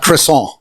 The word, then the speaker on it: croissant: It's not a crescent roll. It's a croissant.